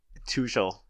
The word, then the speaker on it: Tuchel: Well, because he, Tuchel, that's how you pronounce his name.